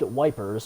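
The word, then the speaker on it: Ypres: gas was already here eep a town in ruins dubbed wipers by british troops due to the difficult pronunciation belgium the belgian town of yeep was was a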